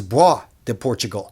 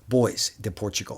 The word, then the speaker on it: Bois de Portugal: Just the other day, I found out this is Bois de Portugal, not boys de Portugal.